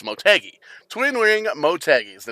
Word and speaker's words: Motegi: we wrap up qualifying it's mo dash teggy and i guess the dash is silent so it's motegi twin wing motegi is